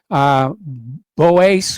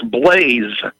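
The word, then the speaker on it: Blase: We're going to switch over to, I am not sure how to pronounce this, Boas or Bose in Michigan. Welcome to the show. What's on your mind? It's Blaze, B-L-A-S-E, Blaze.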